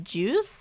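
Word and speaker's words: JIUS: We have these little shoes by Juice, I believe is how you pronounce it, J-I-U-S.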